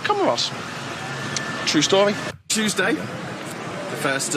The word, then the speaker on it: Comoros: And I asked someone, is it pronounced Comoro or Comoros? He said Comoros.